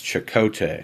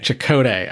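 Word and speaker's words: Chakotay: as commander and I don't know how to pronounce his name because I've never seen Voyager it's chakote chakote all right he's a Maki Commander who's uh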